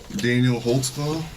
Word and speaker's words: Daniel Holtzclaw: I'll let your name there cuz I don't even know how to spell it. I can How do you say your name? Daniel Holtzclaw.